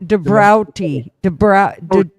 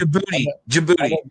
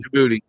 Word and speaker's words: Djibouti: Dave, the answer to that one, was it Debrauti, Djibrauti, or whatever that. Djibouti. I know, yeah, It's pronounced Djibouti.